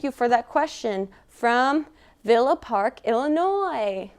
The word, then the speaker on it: Villa Park: for that question from Villa Park Illinois with no s pronunciation because that's incorrect I've learned that specifically